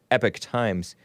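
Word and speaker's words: Epoch Times: America according to this Epic Times or Epoch is what it looks like but I learned from the the great Bill Lockwood on his show a few years ago that it's pronounced epic times I even looked it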